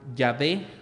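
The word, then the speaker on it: Yahvé: nombre de dios que originalmente en hebreo se pronunciaba ya ve ya y hasta ahí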